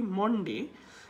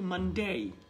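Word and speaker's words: Monday: এই উচ্চারণ করতে পারবেন সো আমরা যেটা বলি মনডে এটার উচ্চারণটা হবে কিন্তু মানডেই এবং কেন হবে ফোনেটিক সিম্বল থেকে আপনি বুঝতে পারবেন সো এখানে আসলে দ্বিমত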